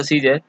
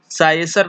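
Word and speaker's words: Caesar: था जिसका नाम था सीजर। इसको हम लोग यहाँ पे ए जो है वो साइलेंट है, इसको हम लोग साइसर नहीं पढ़ते हैं, सीजर पढ़ते हैं। ए को प्रोनाउंसिएशन नहीं किया जाता है, यहाँ पे ए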